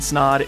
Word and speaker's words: Snod: everybody my name is snod it rhymes with odd and you're listening and